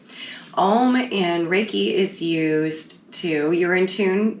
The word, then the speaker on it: om: experiments but the chant om which is spelled om but pronounced like home without the h oh it's actually going